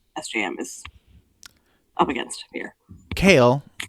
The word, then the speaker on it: Chaol: Chaol, Amanda is right. Chaol. I still can't say it right. Chaol. It's kale. It's Kale. kale.